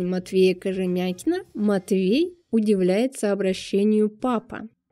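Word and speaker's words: papa: 200 лет назад происходит от французского папа ударение на последний слог папу заимствовали сначала дворяне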